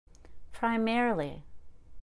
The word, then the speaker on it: primarily: it should be testify primarily you can say primarily but often with these adverbs we don't need to pronounce that i you do need to spell it with i so don't omit that in your spelling but we don't need to say that i primarily necessarily temporarily ability now